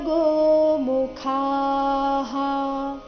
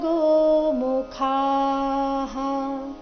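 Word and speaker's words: ಗೋಮುಖಾಃ: ಭೇರ್ಯಶ್ಚ ಪಣವಾನಕ ಗೋಮುಖಾಹ ಇಲ್ಲಿ ಕೊನೆಗೆ ಖ ಮಹಾಪ್ರಾಣ ದೀರ್ಘ ಹೇಳಿದ ನಂತರ ವಿಸರ್ಗದ ಉಚ್ಚಾರಣೆ ಹ ಎಂದು ಹೇಳಬೇಕು ಪಣವಾನಕ ಗೋಮುಖಾಹ ಸಹಸೈವಾಭ್ಯ ವ ದೀರ್ಘ ಬಂದು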